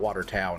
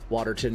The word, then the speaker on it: Waterton: Is it like Waterton? Is that how you say it? Not Watertown, right? Waterton, New York.